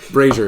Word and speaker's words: brazier: thought it too brazier brazier is how that word's pronounced tie a string to